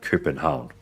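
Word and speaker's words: København: But I don't know, how do you pronounce Copenhagen in Danish? Uh, krypen hound. Krypen hound. We would say krypen hound, but krypen hound. We're using, you know, um, we're using the Danish letter.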